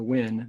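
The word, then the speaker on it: WVHIN: virginia health information network or the win the v is silent uh and in addition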